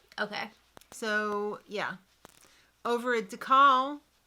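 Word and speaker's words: Dakal: Over at DeCal, is that how you say it? Yeah, I guess. It's not Dakel.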